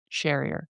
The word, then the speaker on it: Sherrier: Well, Daniel Sherrier. I totally asked him about his name like 3 times to say it right. So it's right, Sherrier.